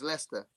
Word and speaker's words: Leicester: How do you say Leicester? How do you say Leicester, Dave? Have a read that word. Give you a clue. It's Leicester.